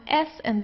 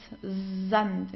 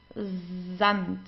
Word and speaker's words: Sand: You pronounce the S like in the English Z. So it's dand zant. Okay. So it's not sand, it's zant.